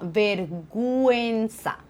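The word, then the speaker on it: vergüenza: ne prononce pas et s'il y a deux petits points je les prononce donc ici tu vois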